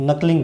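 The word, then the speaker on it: knuckling: नकलिंग विधि, नकलिंग विधि, ये के यहां पर साइलेंट रहता है, ध्यान रखना।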